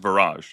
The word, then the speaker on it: Viraj: And thank you it's pronounced Vrage. Yeah. Yes. Yeah. Thank you for for for making the time to come on today.